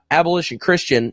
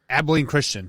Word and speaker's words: Abilene Christian: uca ucla and uh abolition christian or what i'm sorry i pronounced that incorrect abilene christian yeah abilene christian excuse